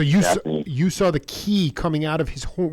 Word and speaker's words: ki: Like ki, like in martial arts, you have something called ki, like in Oh, I know it is chi.